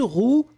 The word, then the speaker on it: roue: Une roue, un roux, eh bien, on les prononce de la même façon.